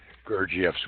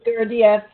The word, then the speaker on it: Gurdjieff: I've heard it pronounced many different ways, but from the people closest to Gurdjieff, who are students of his students, it would often be pronounced Gurdjieff or Gurdjieff or Gurdjieff. I pronounce it Gurdjieff. Either one is correct, but I think Gurdjieff is perhaps closer to the correct pronunciation.